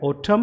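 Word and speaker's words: autumn: Column, और फिर है ओटम, और फिर है सॉलम, और फिर है ये डैम, तो कहीं भी ये एन जो है वो न साउंड नहीं दे रहा है, ये यहाँ पे साइलेंट है।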